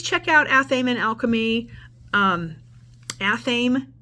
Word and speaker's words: Athame: out aaman Alchemy um athame and Alchemy is how you would pronounce that and I will put